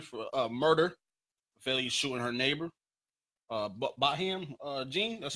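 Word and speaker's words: Botham Jean: Baham Jean, that's how you pronounce him.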